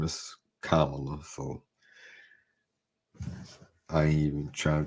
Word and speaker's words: Kamala: been doing doing that on um I guess Cala Kam Kamala Cala it's hard to i' be thinking the right name right pronunciation whatever but it it